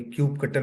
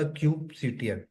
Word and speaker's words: kubectl: और कोई क्यूब सीटीएल बोल रहा है, क्यूब, कोई क्यूब कटल बोल रहा है, बट एक्चुअल में ये है आपका क्यूब सीटीएल।